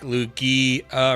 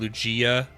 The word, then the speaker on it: Lugia: It sounds a bit funky when you really annunciate the e. Oh, like lugi uh rather than lugia.